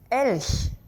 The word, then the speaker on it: Elch: Elch. Can you say it? One more time. Elch.